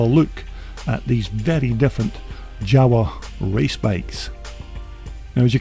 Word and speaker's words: Jawa: you'll appreciate the content now java motorcycles or java to use the correct pronunciation was actually founded in